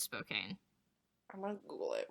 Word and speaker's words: Spokane: What if it's not pronounced Spokane? What is about? I think it's pronounced Spoken. No, I'm pretty sure it's Spokane.